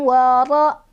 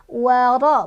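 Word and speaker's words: وَرَ: Anhum wa ra. Ro-nya dibaca tafkhim, ro-nya berbaris fathah, jadi bacanya tebal ya. Waro bukan wara.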